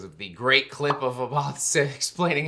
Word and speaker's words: Abbath: Abbath, and I love saying it like that because of the great clip of Abbath explaining how to say his name. Oh, it's Abbath. Or in Norwegian, Abbath! Abbath!